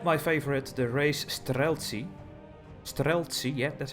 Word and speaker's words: Streltsy: Streltsy, yeah, that's how you pronounce it.